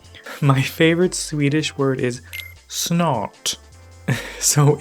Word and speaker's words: snart: My favorite Swedish word is snart. So if you don't pronounce the R like Swedish people, it sounds like snot.